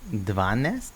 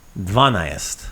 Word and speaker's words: dvanaest: Dvanest? Dvanaest. Dvanaest. Yeah, dvanaest. Oh, there's another A in there. Yeah, dvanaest.